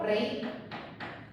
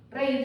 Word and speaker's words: reír: lleva tilde en castellano, lleva tilde porque si yo no le pongo tilde, tengo que leer reír. Reír tengo que leer. Porque la fuerza natural se va a la vocal fuerte.